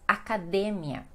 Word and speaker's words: academia: E aí nós temos uma pronúncia então no português e no espanhol a sílaba mais forte é outra. Vamos ver então quais são elas. Primeiramente, nós temos academia, que no português fica academia.